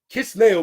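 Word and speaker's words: Kislev: ninth month even in kisley kiss leo brothers sisters and i pronounce it as that not with the v because it ends with the letter wow it's the same month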